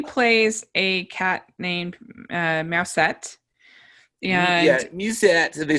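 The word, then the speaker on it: Mewsette: so so judy plays a cat named uh mousette yeah yeah they spell it m-e-w-s-e-t-d-e so hahaha cat puns yeah a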